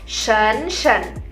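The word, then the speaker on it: 婶婶: Dan kalau misalnya adik laki-lakinya ayah itu punya istri, kita panggilnya shen shen.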